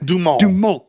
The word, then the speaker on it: DuMont: I like how you say it in a French way. DuMont.